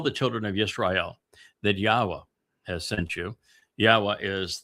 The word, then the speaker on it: Yahowah: And then he said, tell the children of Israel that Yahowah has sent you. Yahowah is the way I want to be known and remembered for all time and all places. Yahowah is God's one and only name.